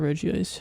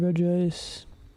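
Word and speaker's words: Regice: Hunting Reggie Ice or is Regist? Not Reggie Ice. Hunting Reg Ice.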